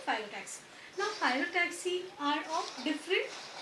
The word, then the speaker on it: phyllotaxy: This arrangement of leaves on the stem or a branch, it is called phyllotaxy. Okay, so try to learn the word properly and pronounce it properly. It is phyllotaxy, Phyllotaxy.